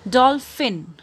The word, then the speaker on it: dolphin: Dolphin. D-O-L-P-H-I-N, dolphin. P-H aune bitke f sound aacho. Dolphin. Tabe eru pani pronounce karnusta.